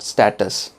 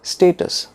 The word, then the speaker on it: status: No, it is not status. It is status.